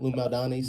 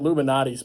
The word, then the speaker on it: Lou Malnati's: So whether it's Giordano's or Lou Malnati's, I think that's how you say it. Lou Malnati's. Malnati's. Yeah. I kept saying it Luminati's, but no, that's not the proper name for it.